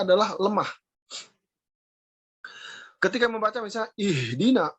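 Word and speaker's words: اهدنا: Ketika membaca misalnya ihdina, itu salah karena terlalu kuat. Ihdina itu terlalu kuat. Padahal huruf h itu adalah huruf yang paling lemah. Maka tekanan pada huruf h tidak kuat, ya, tetapi ihdina, ya. Jadi bacanya tidak ihdina, tapi ihdina, ya. Ihdinas siratal mustaqim, ya. Jadi h tidak dibaca h, tidak kuat, tapi cukup lemah. Tetapi dia lebar, ya. Kalau hamzah menekan, kalau h lepas.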